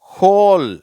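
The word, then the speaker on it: whole: ஹோல். சரியா? இது ஹோல்னு சொல்லணும். சரியா? இதை ஓல்னு சொல்லக்கூடாது.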